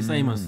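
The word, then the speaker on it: Simons: 앰퍼니 사이먼스. 그 저도 처음에 사이먼스를 보고 시몬스인 줄 알고 시몬스라고 그랬어요. 했다 보니까 현지 중계들이니까 사이먼스라길래 철자가 또 벤 시몬스랑 다르죠.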